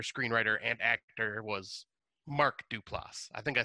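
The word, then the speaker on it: Duplass: the character and I think I said his name wrong last time but uh the director screenwriter and actor was Mark duplas I think I said Joe Dupo or something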